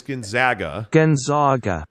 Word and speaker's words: Gonzaga: Well, I think Gonzaga is a very interesting piece of this. And by the way, I got the high-level explanation that it is Gonzaga.